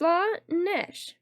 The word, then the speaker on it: Slaanesh: Slanish, pronounced Slanesh.